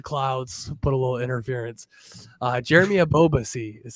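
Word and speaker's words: Jeremy Ebobisse: Jeremy Abobasi is how you pronounce it there, Cap.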